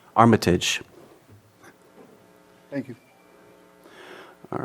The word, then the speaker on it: Armitage: Is that the correct pronunciation? Armitage.